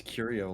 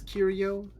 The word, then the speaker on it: curio: am i supposed to pronounce curio or curio or securia it's like curiosity ah i see i went